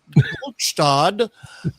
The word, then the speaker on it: Gluckstadt: such, and residents of Gluckstadt need to take shelter." And the phones all start blowing up, and they're all like, "Uh hey, it's pronounced Gluckstad."